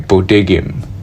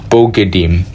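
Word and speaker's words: בוגדים: Bodigim, I mispronounced that. Bogedim is one of the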